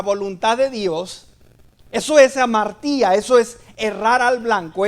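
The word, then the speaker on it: ἁμαρτία: La palabra pecado en el original es una palabra griega que la he dicho muchas veces, que se pronuncia amartía.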